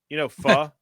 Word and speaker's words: pho: But it's pronounced Pho, so it'd be Pho King. Yeah. The correct pronunciation is pho.